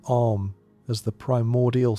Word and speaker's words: Om: Upanishad, treats the syllable Om as the primordial sound from which the universe emerged. The Mandukya describes Om as containing within itself the totality of existence, with its 3 component sounds, A, U, M, corresponding to the 3